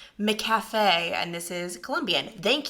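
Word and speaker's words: McCafé: how to pronounce this in my last Vlog I pronounce it McAfee I have no idea why I have never I guess I just haven't gone to McDonald's in like I don't know a decade McCafe and this is Colombian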